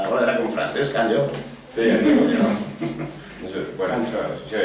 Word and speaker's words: Anyó: cert que el teu cognom, per a ser un valencià parlants, la gent ha prou feines per a pronunciar-lo a la gent. Anyó.